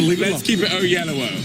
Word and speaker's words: Oyelowo: Well, my father and any self-respecting Nigerian would say Oyelowo.